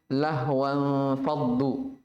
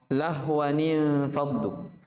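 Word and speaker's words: لَهْوًا انْفَضُّوا: Biasa kita dengar imam di luar sana dibacanya lahwan faddu. Itu salah ya, bukan lahwan faddu tapi lahwanin faddu.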